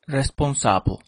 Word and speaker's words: responsable: haciendo una presentación oral Cuando quería decir la palabra respons la decía con i como en inglés en lugar de decir responsable con la a como es en el francés cada vez que pronunciaba